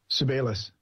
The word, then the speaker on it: Sebelius: Sebelius. Thank you. Sebelius asks the Commission for ethical advice on the development of medical countermeasures for children.